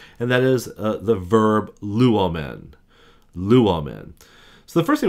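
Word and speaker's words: λύομεν: that is the verb luomen. Luomen. So the first thing we're gonna do is we're gonna break that puppy down into three syllables. So we got lu, a, men.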